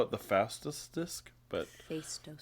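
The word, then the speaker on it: Phaistos: I kept wanting to call it the fastest disc, but Fto.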